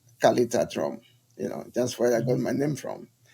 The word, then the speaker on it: Kaleta: because of the dialect, we don't pronounce the re. Instead of carre, we say calais. So Uh-huh. that means Kaleta.